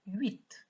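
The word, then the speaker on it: huit: Have you noticed that with number 8, I said 8 because the H is silent.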